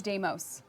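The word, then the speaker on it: Deimos: coming with heart of Doos so heart of damos brings you the new player is it damos it's damos damos checking I tried we tried we tried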